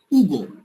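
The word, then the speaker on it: Hugo: উগো। আচ্ছা উগো কেন? কারণ আবার বলি আসটা কিন্তু সাইলেন্ট।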